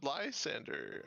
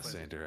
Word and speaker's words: Lander: Would uh would Liander uh agree with your request for us to come liberate? I'm Lander. I said it wrong the first time.